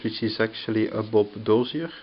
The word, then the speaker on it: Dozier: So actually I'm looking at an affordable compact Puma, a Boker Plus, which is actually a Bob Dozier, I think you pronounce it Dosier design, and here a Le Camarguais.